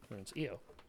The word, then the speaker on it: Io: IO that's great yes I call it IO because I just thought it was named after Jupiter's moon it is EO you're probably right but you know what